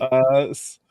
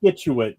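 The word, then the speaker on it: Scituate: said skituate. You pronounced the C. There's no, the C is silent.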